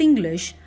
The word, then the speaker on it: English: The first syllable is stressed, in, and the second syllable is slightly de-stressed, glish. English.